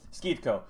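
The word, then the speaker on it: Schitco: I'm But assuming it's Skitko, but I'm not Skeetko, Skeetko. 100% That's also. right. That's right. That's right. Skeetko.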